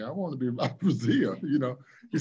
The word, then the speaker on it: Brazile: me as dr doom a lot of people have a problem pronouncing brazil they call it brazilian brazilian but dr doom has